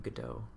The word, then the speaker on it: Godot: I actually know what the name, how to pronounce the name Godot.